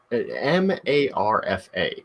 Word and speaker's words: Marfa: this the Marfa lights Mr m-a-r-f-a Marfa okay I'm not mispronouncing Martha it wait is is